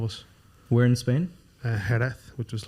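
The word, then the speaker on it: Jerez: or 21 of us we're in Spain uh herath which was like south of Seville good pronunciation you speak Spanish no no I can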